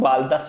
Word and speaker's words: बालदा: लिए, बालदा क्षेत्र है, बाल्टा भी लिखा आता है लेकिन बालदा शुद्ध उच्चारण है इसका।